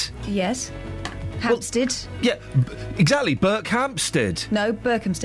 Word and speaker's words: Berkhamsted: But Berkhamsted? Yes. Hampstead. Well, yeah, exactly. Berkhamsted. No, Berkhamsted. It's not got no P in it.